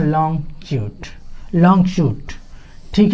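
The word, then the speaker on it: chute: ठीक ना, इसको CHUT इसको शूट पढ़ते हैं। ठीक है, कभी कभी लड़के इसका उच्चारण गलत करते हैं।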